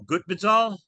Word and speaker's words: Gutbezhal: Um, and we are really happy to have with us today Adam, and correct me if I get this wrong again, Adam Gutbezhal.